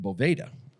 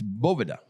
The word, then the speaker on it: Boveda: Well, they were pronouncing it bovda and he's like guys what the is this boveda? He goes, "It's boa." Like almost like there's a B in the middle.